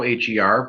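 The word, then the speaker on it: H.E.R.: It's pronounced her. You don't say HER. It's an acronym for having everything revealed.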